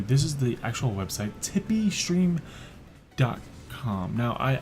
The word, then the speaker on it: Tipeeestream: is the actual website tippy stream dot-com now I I accidentally mispronounces I have this a tipsy stream but excellent but I'm making sure that I'm not saying this the wrong way as you see the